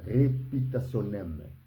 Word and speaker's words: reputationem: En latin, on les prononce en disant reputationem.